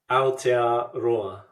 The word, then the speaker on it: Aotearoa: Aotearoa.